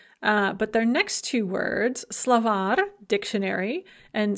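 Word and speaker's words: словарь: secretar a male secretary when we add an ending we actually add a syllable and that stress is going to shift onto that syllable that we add so slovak dictionary becomes slavary dictionaries secretary male secretary becomes secretary male secretaries another thing that shows up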